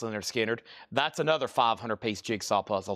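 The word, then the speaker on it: Lynyrd Skynyrd: And we got Leonard Skinner, Pronounced Leonard Skinner.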